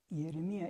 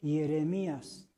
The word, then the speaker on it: Jeremías: Bueno, entonces ya vimos la pronunciación del hebreo, Jeremía. La pronunciación del griego, Hieremía. La pronunciación del español antiguo, Jeremías. Y en el español moderno, ¿cómo dice en su Biblia? Jeremías.